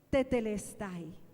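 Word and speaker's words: τετέλεσται: Ahora, esa palabra en el griego es una sola palabra y es tetelestai. Tetelestai.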